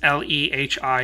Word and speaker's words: Lehi: It's Lehi, I don't know how to pronounce this, L-E-H-I, Utah.